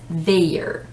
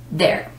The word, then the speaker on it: their: the possessive adjective as they are the i has no sound so sometimes people would read it as their which it's a honest mistake it's okay but the correct is there just remember the word